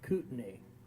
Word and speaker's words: Kootenai: It's Moyie Springs and Kootenai. And if you don't say it right, they'll know you're not from the area.